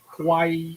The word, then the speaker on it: Kauai: Is that how I have to say it to make sure it's distinguished between Kauai Island and Yeah.